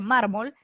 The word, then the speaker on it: mármol: oa vocal y efectivamente mármol la fuerza de voz está en la penúltima y para saber si